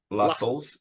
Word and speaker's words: Lassels: Harlow, but he's also the master of Lassels, rhymes with tassels, and treasurer of the Widow's Son's Lodge.